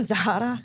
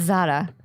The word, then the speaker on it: Zahra: So I have an H in my name, so you spell it. You say it as Zara. Is that Arabic? Zara is like Persian / Arabic / What's the pronunciation? Zahra? It's Zara. Zara. It's like you're singing a Jessica Simpson song.